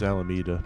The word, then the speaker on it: Alameda: I mean, the English pronunciation is Alameda. However, if you're approaching it from purely a Spanish accent, it's going to be Alameda.